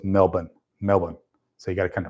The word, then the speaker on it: Melbourne: So people here in San Francisco will pronounce that city in Australia Melbourne, and I've always been told it's Melbourne.